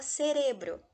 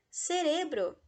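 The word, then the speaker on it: cerebro: e agora em espanhol cérebro tem uma outra sílaba tônica cérebro a gente fala serebro serebro por ser a penúltima sílaba tônica ele segue a regra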